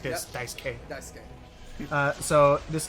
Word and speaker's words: Daisuke: forgot i remembered that they almost never pronounced the you i remember that uh there was this guy whose name was dice k on a baseball team